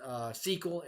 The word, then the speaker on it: SQL: be so to speak via sql which is pronounced sql and it stands for structured query language you